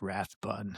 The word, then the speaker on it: Rathbun: I want to pronounce it like Wrath, like Rathbun, like I'm angry, but it's Crabby.